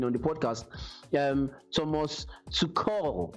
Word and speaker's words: Tuchel: the podcast um thomas to call as is pronounced in german if um if i'm sounding right but it's pronounced to call well if i'm wrong